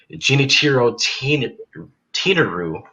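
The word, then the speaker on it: Genichiro Tenryu: Hiro Tenryu? Yes. Yes, when I was doing my research, I pronounced it Genichiro Tenaru, And that is correct for your second point.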